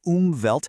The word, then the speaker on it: Umwelt: A concept called the umvelt. It's a German word. You say it like oovelt.